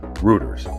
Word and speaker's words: Reuters: snoops and there's um Reuters I hope I pronouncing that one right it's r e u t e RS rooters rooters is more of a social media fact